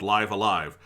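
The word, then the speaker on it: Live A Live: game called Live Alive, which is spelled live, the letter A, capital, and then another version of the word live, but it's called Live Alive.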